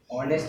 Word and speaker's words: honest: Honest is pronounced with a silent H, and starving, not striving.